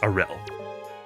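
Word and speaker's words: Aryll: And they and I found out that it is pronounced Aurel.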